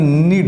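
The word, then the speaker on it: knead: आटा गूंद दो किसी को कहना है, आटा गूंदना का अंग्रेजी नीड होता है, याद कर लेना है, KNED, नीड। इसमें के साइलेंट रहेगा।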